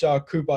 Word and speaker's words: Kupa: your name but uh coach koopa is that how you say it yes sir all right yeah well